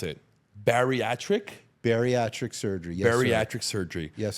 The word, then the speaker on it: bariatric: Help me pronounce it. Bariatric? Bariatric surgery.